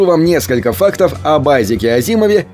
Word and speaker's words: Азимов: Чтобы знакомым было легче запомнить правильное произношение его фамилии, писатель придумал забавную мнемотехнику. Он предлагал сказать «has him off», так, будто в этой фразе нет ни одной буквы «H».